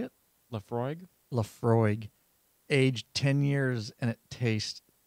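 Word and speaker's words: Laphroaig: Lafroig, aged 10 years, and it's going down smooth, Jonathan.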